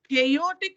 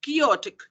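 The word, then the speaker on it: quixotic: this is not pronounced as photic it is pronounced as chaotic but you should not confuse it with chaotic chaotic is coming from chaos which is complete confusion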